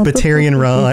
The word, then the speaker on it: Batarian: Right, because Batarian rhymes with Solarian.